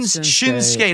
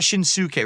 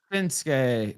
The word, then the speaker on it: Shinsuke: Shin Nakamura it's it's not Shins It's Shin shinsuke not shinuk right you don't pronounce it right that way okay no it's shinsuke Nakamura and it's osar of course ra ASA